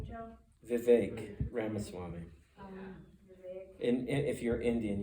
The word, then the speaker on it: Vivek Ramaswamy: But, how do you pronounce his name, Joe? Vivek Ramaswamy.